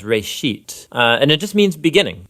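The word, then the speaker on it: ראשית: Genesis comes from a Hebrew word. It's pronounced reshit, and it just means beginning.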